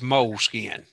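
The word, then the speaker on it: Moleskine: covers and it spray more of a French pronunciation of all I think they I love moleskin but I think think they pronounce it meliss kina but uh I agree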